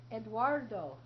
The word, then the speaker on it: Eduardo: let's read about Spain that name is a Spanish name it's pronounced Eduardo say that Eduardo Eduardo so let's read